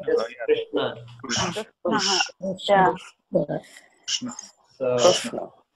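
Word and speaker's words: कृष्ण: Krishna. So the rikara that we added here, remember rikara is a vowel.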